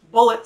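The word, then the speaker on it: Bulleit: i'm going to use bullet today how do you pronounce it how do you pronounce it folks you should know like the ammunition son okay so i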